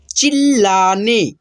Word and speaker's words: चिल्लाने: पहले भी बताया हूँ, ये जो आधा ल होता है यानी कि दोस्तों आधा अक्षर, और उसके आगे जो पूर्ण अक्षर रहता है यानी कि दोस्तों उसमें अ का साउंड होता है, यानी कि पूर्ण रूप से देखिए ल है और आधा ल है, तो इस ल में पूरे ल में मिला करके पढ़ेंगे चिल्लाने लगा पर मेढक कब सुनने वाला था।